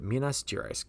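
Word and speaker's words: Minas Gerais: jerus Mina Minas jerice that's how you say Minas jerice gosh I butcher that even though I got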